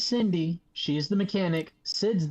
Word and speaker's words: Cindy: So is that means her name is pronounced Shindi? No. No. No, her. She is Cindy.